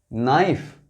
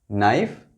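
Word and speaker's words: knife: वाइफ, लाइफ, नाइफ. यहां के silent है. के साइलेंट है. नाइफ, pipe, ripe, नाइल. Repeat करते हैं. वाइफ, लाइफ, नाइफ, pipe, ripe, नाइल.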